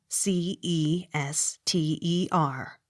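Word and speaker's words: Cirencester: e y chumley c i r e n c e s t e r c ester accent on first syllable c l a n r i c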